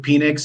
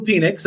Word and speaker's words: Penix: I believe it's pronounced Penix, and he wouldn't have he has the Twitter handle Big Penix Energy, right? Oh, okay, that's his Twitter handle. And it wouldn't make sense if it was Penix, right?